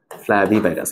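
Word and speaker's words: Flavivirus: গুলোকে আমরা কি বলি ফ্লাভি ভাইরাস বলি বুঝছো ফ্লাভি ভাইরাস এভাবে উচ্চারণ করা উচিত।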